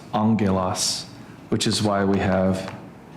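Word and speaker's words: ἄγγελος: And when you have two gutturals next to each other, the first one turns into a new. And so it's pronounced angulos, which is why we have angel with this.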